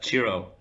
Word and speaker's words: Chiro: Hi, it's Chiro. Can you hear me? How do you say it? It's Chiro. It's Italian. Chiro.